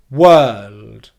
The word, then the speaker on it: world: Whirl, whirl, whirl, and then make a D sound at the end. Wôæld, wôæld, wôæld. And because we've gone up into the L position, into the dark L position, to make the D sound at the end, all we're going to do is just let our tongue drop down a little bit from our mouth.